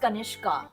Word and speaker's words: कनिष्का: name is कनिष्का ओ मेरा नाम कनिष्क ही है प्रोनंसिएशन में but there is एन ए और मैं बचपन से ही क्लासेस में भी जस्टिफाई करते आ हूं that ए इज अ silent letter कनिष्क है मेरा नाम